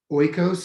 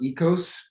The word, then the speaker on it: oikos: word being eco or oikos and it's it looks like oikos but it's pronounced ecos and so you know